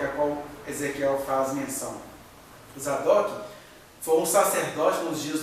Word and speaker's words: Zadok: a classe dos saduceus, que Zadok se pronunciaria Saduque. Saduque, que foi dando origem à palavra saduceu.